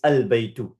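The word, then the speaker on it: البيت: Notice it's al-baytu. Did you notice that, Yahya? Yeah. And another thing you need to notice here is, look, it's al-baytu, where I'm pronouncing the lam.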